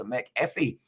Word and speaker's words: McAfee: fresh as possible as the proper pronunciation is mcafee as i but everyone says uh mcafee and then don't fret so it's mcafee mac mcafee mcafee i'll try